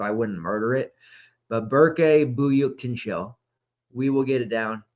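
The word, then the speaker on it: Berke Büyüktuncel: it this year um bur byuk Tino and you wouldn't think that because his last name is spelled by y or sorry buy UK Tu n c l i Haven tried to practice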